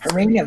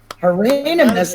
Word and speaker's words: Hieronymus: Hieronymus. That is Hieronymus. correct. Some, That's a name? Hieronymus?